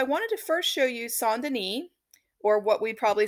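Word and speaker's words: Saint-Denis: to first show you sondini or what we probably say a st. Denis but this is a church in France so of course you want your proper French pronunciation which is sawn this is st.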